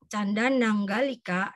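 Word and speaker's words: Candanaṅgalika: Canda Nanggalika, jadi N-nya di sini ada titik, jadi kita bacanya ang ya.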